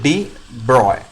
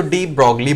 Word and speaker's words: de Broglie: So according to डी ब्रॉय, according to डी ब्रॉय, that is this spelling and pronunciation आपको पता है क्या pronunciation बच्चों? डी ब्रॉय। और अगर स्पेलिंग प्रॉपर रखना है तो डी ब्रॉगली बोलो, ब्रूस ली का भाई ब्रॉगली।